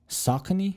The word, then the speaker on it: Saucony: i ended up trying a hoka new balance saucony that's how you pronounce it and on shoes like i mentioned